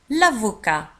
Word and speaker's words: avocat: المحامي un avocat l'avocat. في آخر الكلمة نجد T ولكن لا تنطق. l'avocat un avocat un avocat.